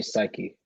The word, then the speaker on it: psyche: understand i really just is it psyche or psych um i say psyche welcome and that's what makes it rhyme with society too okay welcome to